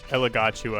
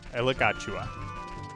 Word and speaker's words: Elagatua: Elagatua, I Sounds think, good. is the correct pronunciation, by the way. Say that again, Shadow. Elagatua. There's like a got you at the end, I'm pretty sure.